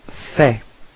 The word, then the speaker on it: fais: So first form for je, it's je fais. Okay, so final S is not pronounced.